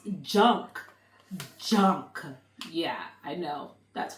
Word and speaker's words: JNCK: They're actually pronounced junk.